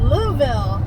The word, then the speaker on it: Louisville: We are headed to Louisville. Louisville is how they say it locally. So Louisville is how most people say it, but not if you're local.